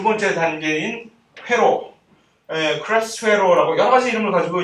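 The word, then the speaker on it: Krebs: 다 크랩스라고 하고 있는데 크레부스 회로 해가지고 짜증 왜 발음을 꼭 크레부스라고 해야 되는 건지 난 진짜 알 수가 없는데 그렇게 써놨더라고. 어쨌든 옛날부터 이건 크랩스 회로라고 해.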